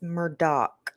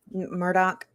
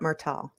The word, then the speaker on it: Murdaugh: is a character in that show but it's Murdock apparently Murdoch so yeah yeah all right so do we need to show murder how to pronounce his name Murdoch I I just know it's not murtal I want to say hey to Catherine Frazier